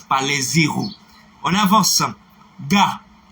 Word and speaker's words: gars: Gars. G-A-R-S, pas gare. Gars. G-A-R-S. Ne dites pas gare.